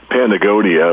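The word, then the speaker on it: Patagonia: athletic clothing and this is continuing to uh pagonia if I'm pronouncing that right it's p a t a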